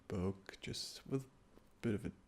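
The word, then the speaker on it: Buch: probably tell this is what you call a book in English do you remember what this what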